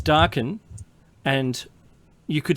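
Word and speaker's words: Darkin: And if you think I'm If anyone out there thinks that I'm saying dark and young, I'm not. It's darken.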